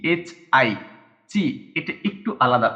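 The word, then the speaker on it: チ: সি এইচ আই, চি। এটা একটু আলাদা উচ্চারণ, আমি আপনাদেরকে এর আগেও বলেছিলাম একটু উচ্চারণটা একটু আলাদা।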